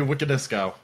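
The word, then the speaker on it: Wiconisco: Give me Wiko Nisko.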